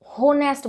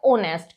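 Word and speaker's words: honest: है ऑनेस्ट अब ये बहुत से बच्चे मैंने सुना है नेस्ट बोलते हैं नेस्ट जबक ये गलत प्रोनंसिएशन है वो होता है ऑनेस्ट क्यों बिकॉज ओ से पहले एच आया हुआ है तो एच साइलेंट हो जाएगा फर्स्ट वर्ड देखिए ओनर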